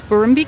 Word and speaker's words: Barrumbi: that you wrote quite a while ago, the Barrumbi Kids, is that how you say it? The Barrumbi Kids, the Barrumbi Kids, yeah.